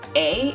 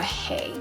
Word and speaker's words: eh: clarify about it is you don't really say eh it's actually more of a hey so it's like it's cold out hey that's kind of how you say it double double this one's